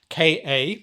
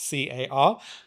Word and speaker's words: Ka: open the energy body, the Ka, Ka, not Car, Ka energy body, as the Egyptians would have called it.